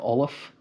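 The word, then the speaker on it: Ollamh: tapestry of pronunciation, and an MH is essentially a V sound. It's anglicized many times as just a V. So O-L-L-A-V would kind of be the Anglican spelling of Olaf.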